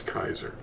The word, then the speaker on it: Kaiser: The real pronunciation is Kaiser.